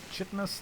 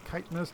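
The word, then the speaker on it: Kitinous: plating that's again pronunciation this is not chitus this is kitness don't ask me why people just preferred it that way I guess and ultralisk are great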